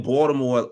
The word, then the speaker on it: Baltimore: We will be in um Baltimore because you know the T the T is silent. We will be in Baltimore um for Junth weekend.